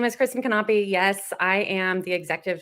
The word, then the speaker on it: Knape: special guest today, Kristen Knape. And that's how you spell it, Knape. You pronounce every single piece of her last name.